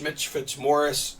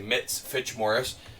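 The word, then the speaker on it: Mitch Fitzmorris: second player to watch Mitch Fitz Morris I said it right this time I didn't say mitz Fitch Morris mits uh mits there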